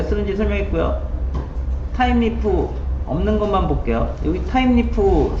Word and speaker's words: Thymeleaf: 이게 스펠링이랑 발음이랑 좀 달라요. 타임리프라고 읽어요.